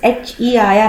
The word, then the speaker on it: heir: And even this air, that is H-E-I-R, H is silent here.